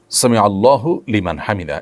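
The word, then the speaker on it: سمع الله لمن حمده: ফেলেছেন দেখুন সামি আল্লাহু সামি আল্লাহু লিমান হামিদা এটি হলো শব্দের সঠিক উচ্চারণ সামি আল্লাহু লিমান হামিদা সামি আল্লাহু লিমান হামিদা এটা সঠিক উচ্চারণ নয় থামতে হবে সেখানে যেখানে মানুষ ওয়াকফ করবে ওয়াকফ না করলে সেখানে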